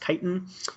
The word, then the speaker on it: chitin: walls and chitin that's that word is not pronounced chitin it's brand-new pronounced Titan that is found in fungi cell walls this